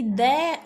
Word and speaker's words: the: कहाँ कहाँ होती है, जहाँ पर गाइज वावल की साउंड हो तो वहाँ पर क्या बोला जाएगा, दी बोला जाएगा।